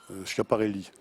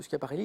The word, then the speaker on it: Schiaparelli: Schiaparelli.